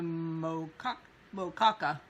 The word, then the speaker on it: moqueca: Yesterday was looking forward, and I showed the peppers and tomatoes that go in the moqueca. I've been saying it wrong, so I'm trying to do it right.